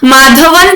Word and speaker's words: माधवन: माधवन या माधव कहा जाता है इनको, माधवा नहीं है वो, या तो माधवन या माधव, संगम ग्राम के माधव कहा जाता है।